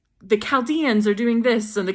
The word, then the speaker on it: Chaldeans: the name of the Chaldeans CH but it's pronounced with the heart the Chaldeans or chaldea that is the same as Babylon